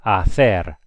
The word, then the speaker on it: hacer: You remember the H's? What do the H's do? They do nothing. So this is hacer.